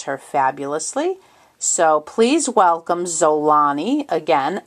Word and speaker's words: Xolani: and her name is zolani which is spelled X Ola and I the X is pronounced Z it can also be pronounced Omani but I like zolani and it means be